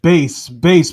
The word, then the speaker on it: Bass: His name is pronounced bass because rock, roll, bass, treble.